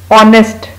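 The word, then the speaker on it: honest: ऑनेस्ट, झूठ ना बोलने वाले को, जो दिल से काम करे उसको ऑनेस्ट कहते हैं, इसमें भी एच साइलेंट है।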